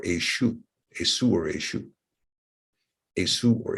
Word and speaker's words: Esau: But when we look at its true pronunciation, minus the Masoretic spin, we find it's not Esav or Esau, but rather Esu or Eshu.